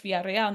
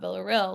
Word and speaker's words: Villarreal: I'm like, "No, it's Varel, not Veril.